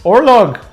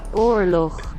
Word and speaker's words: oorlog: Okay, let's see how we pronounce it. War. Nope, that's English. Oorlog. Oorlog.